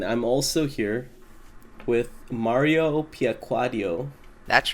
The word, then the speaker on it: Piacquadio: And I'm also here with Mario Piaquaddio.